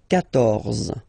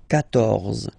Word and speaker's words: quatorze: So remember Q and U here. Well, basically you get to put this U vowel, because that's the rule in French, even if you don't pronounce it, okay? So you will get the sound K here. K. Quatorze, quatorze, okay?